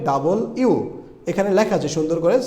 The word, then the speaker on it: W: এই শব্দটা আমরা ছোটোবেলায় বা অনেকেই শিখছে বলে ডাব্লিউ, কিন্তু এটা ডাব্লিউ হবে না, এটা হবে ডাবল ইউ। এখানে লেখা আছে সুন্দর করে, সাউন্ডস লাইক ডাবল ইউ।